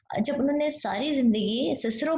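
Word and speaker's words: Cicero: More over chips की अपने personal opinion क्या थी कि स्टूडेंट्स को जब उन्होंने सारी जिंदगी सिसरो पढ़ना है, नॉट केस्ट्रो, ओके, सो उनको हम क्यों कहें कि वो केस्ट्रो पढ़ें दिस वर्ड सिस्ट्रो को, ठीक है ना।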